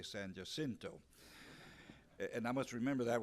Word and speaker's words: San Jacinto: to be here at your symposium for the San Jacinto. We said that's the way we pronounced it in San Antonio, but I guess I'm over here, I'm a politician, so I'll have to say San Jacinto.